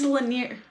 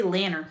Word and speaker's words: Lanier: It's Lanier. Sydney Lanier. Lake Lanier. Yeah. Lanier? No, yeah. I just want to say Lanner every time I say it.